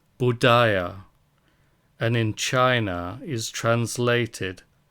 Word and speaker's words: Buddha: are of Unthinkable Merit Buddha in India is pronounced budia and in China is